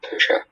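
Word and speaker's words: tusche: Are there any alternate pronunciations? This is just Tusha.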